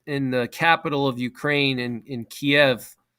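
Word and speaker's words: Kyiv: capital of Ukraine in Kiev or Kiev, that's how you say it properly in Ukrainian, Kiev.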